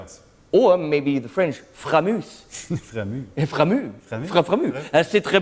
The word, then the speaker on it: Framus: And I just played this idol maker from Framus, which is how you say it in German, Framus. With a big R, no, Framus.